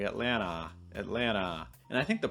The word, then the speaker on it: Atlanta: there should be right where does it go atlanta it's not too often that you're going to hear a native speaker say atlanta usually it becomes atlanta this is because when